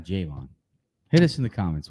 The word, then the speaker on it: Javon: And then I like the Javon Baker pick at 14-4. I think it's Javon. Is it Javon Baker? Javon. I would say Javon currently until we hear different. I'm going Javon.